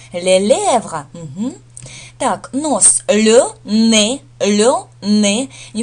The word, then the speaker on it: nez: И вообще, сочетание «ez» всегда на конце слова читается как «э», да? То есть запомните это правило чтения еще. «Ez» – это «э», «не», поэтому здесь «le ne».